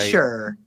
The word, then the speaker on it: Cheshire: Cheshure. Cheshure. Cheshure. Like the It's the Cheshure. Like the Cheshure cat. What's her name? Cheshure. Yes. Cheshure. Like a Chucky doll. Like a Come on down to Cheshure, Connecticut.